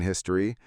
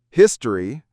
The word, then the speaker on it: history: Notice that we either don't pronounce the O in history or we pronounce it as a history or history.